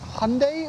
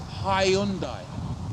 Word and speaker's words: Hyundai: Is it Hyundai or Hyundai? Neither. It's Hyundai. Hey. 3 syllables. Hi. Hi. Un. Die.